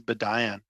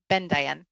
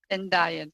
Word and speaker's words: Bendayan: I'm happy to be referred to as Rachel as well, but it's Mrs. Bendayan. Bendayan.